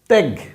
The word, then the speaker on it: ত্যাগ: এ তার মানে এ কারণে এর উচ্চারণ কিন্তু ভ্যা ভ্যাথা ব্যথা ব্যবসা এটা ত্যাগ ত্যা ত্যা গ কি হইছে ত্যাগ এটা শ্যামল